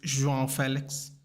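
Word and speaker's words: João Félix: João Felix. In Goa, people actually call themselves Felix. Yeah, they don't say Felix. Felix or Felix is actually a first name as well. So yeah, João Felix.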